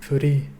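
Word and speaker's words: Furi: really need to break Foody the title is meant to be the Japanese pronunciation of the English word free so the game has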